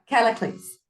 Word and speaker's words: Callicles: How do you pronounce that name again? Which one? Because there's the one that starts C. Callicles? Callicles.